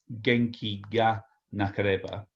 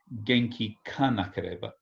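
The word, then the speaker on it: 元気がなければ: So actually, when Japanese people pronounce ga in this particular case, especially with a G, especially with this case of ga, it actually comes out a little bit nasally.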